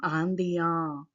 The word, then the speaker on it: Indiens: If it is the group of boys, so then nous sommes Indiens. Yes, we won't pronounce it. You can observe S sound is not there here.